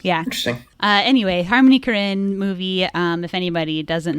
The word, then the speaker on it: Korine: a Harmony Karin movie there's contention over pronunciation of Harmony Karin's last name but I'm going with Karin yeah what's the other what are the other candidate pronunciations Karen okay Karin Karen okay all right and I'm neutral on that I feel agnostic about that